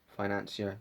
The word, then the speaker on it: financier: Financier, yeah, that's how you say it.